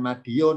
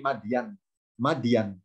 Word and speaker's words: Madyan: tulisannya Arab gundul ya hurufnya mim dan bacanya bukan Madiun kalau Madiun di Jawa Timur ini mandian ke negeri Madya negerinya nabi